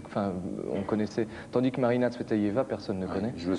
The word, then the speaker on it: Marina Tsvetaeva: Non, allez-y, prononcez-le. C'est Marina Tsvetaeva.